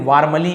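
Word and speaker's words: warmly: वार्मली यहां पे देखिए वार्मली ऐसे बटा हम आर को क्या करते हैं साइलेंट पढ़ते हैं थोड़ा सा तो वार्मली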